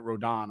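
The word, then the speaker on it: Rodón: rodon pitched uh which his name should be rodon he even spells it with the accent over the oh why he pronounces it Rodan I don't know but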